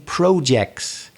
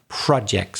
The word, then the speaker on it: projects: few people say interesting projects but the correct pronunciation according to the dictionary what we can see is projects so slightly different vowel sound that some people say but according to dictionaries projects are you working on